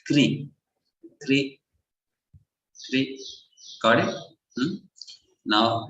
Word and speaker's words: Krishna: And this is what you see in Krishna, right? R with a dot. That's why it is pronounced as Kri.